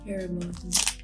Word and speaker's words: Haribo: Next up, we got, how do you pronounce it? Haribo or Haribo? Haribo.